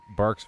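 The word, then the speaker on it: Barq's: Even though it's spelled B-A-R-Q.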